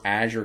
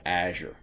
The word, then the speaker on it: Azure: All right, and this, of course, is where Azure comes into play, Microsoft Azure. Now, you might pronounce that word different.